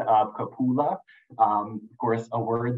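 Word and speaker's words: cupola: for correcting me on the uh pronounced proper pronunciation of kapula um of course a word that I am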